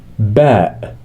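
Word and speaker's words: ب: a Al if b b pronounced like the b in Bat B bat so the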